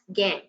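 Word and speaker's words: gangue: is G and gu it is uh pronounced as gang okay so these are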